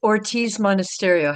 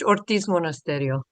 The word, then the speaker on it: Ortiz Monasterio: I don't um it's Ortiz Monasterio. Half my family's from Mexico. Okay. So, if you want in Spanish, Ortiz Monasterio.